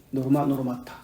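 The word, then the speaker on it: normata: 노르마, 발음대로. N-O-R-M-A-T-A. 노르마타.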